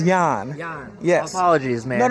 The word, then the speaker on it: Jon: But yes, the pronunciation of my name is Jan.